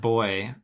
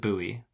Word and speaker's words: buoy: pronounce bu y bu so not boy buoy I would pronounce it buoy can't C with Bo